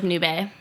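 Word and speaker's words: nube: barking all the time yeah cute yeah yeah noob a noob a it means cloud in Spanish oh yeah that was like a noob a like well yeah it's pronounced like noob a okay yeah well it's my roommates dog okay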